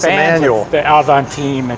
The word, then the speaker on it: Avantime: of the Avantime, it's pronounced.